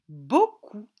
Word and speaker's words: beaucoup: regardons comment il s'écrit il faut faire attention à une petite chose le p finale et muet c'est le mot beaucoup le mot beaucoup est